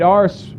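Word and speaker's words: Arce: in that nine machine last name is spelled a rce in case you were wondering what I was saying Pete ARS from Corpus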